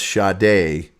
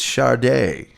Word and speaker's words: Sade: i remember uh s-a-d-e i'm like that's sade no it's char day no i remember you